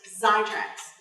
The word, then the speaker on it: Xitracs: we're going to be talking about today is sidetracks come its eggs I TRACS but pretend that excess of Z it's pronounced zai tracks okay it was a sophomore purchased about a